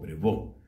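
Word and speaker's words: Prévost: Para que no haya confusión, les debo contar que esta es la fraternidad sacerdotal fundada por el padre Eugenio Prevost, o Prevost, se pronuncia en francés, Eugenio Prevost.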